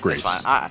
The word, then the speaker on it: Gris: it's pronounced it's pronounced grace because it means it means gray in spanish french i i don't